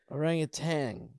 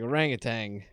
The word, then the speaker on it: orangutan: to orientate all right orangutan right I can't I always put a g at the end all right I always said it wrong orangutan yeah I just